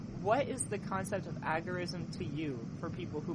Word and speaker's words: agorism: still living friends that he preferred it to be pronounced agorism as in the Agora but most of us I think have come to pronounce it agorism um but yeah the